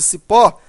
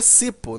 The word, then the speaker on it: cipó: o acento, até porque se eu tirar o acento de cipó, a palavra vira cipo, né? E aí já não é mais oxítona, e aí a pronúncia já modifica.